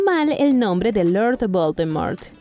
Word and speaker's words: Voldemort: era la correcta pronunciación se supone que realmente no tienes que pronunciar la t del final número 8 la franquicia